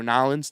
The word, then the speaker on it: New Orleans: New Orleans has been hit, or Nolens, depending on how you say it, has been hit with a hurricane, one of the worst of all times.